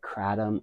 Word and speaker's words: Kratom: I call it Kratom or Kratom. Kratom is the way in Thailand they say Kratom.